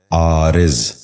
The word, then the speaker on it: عارض: غور سے سنیے، عادل۔ تیسرا لفظ ہے عارض۔ یہ غلط تلفظ ہے، درست تلفظ ہے عارض۔ دوبارہ سنیے، عارض۔ بچوں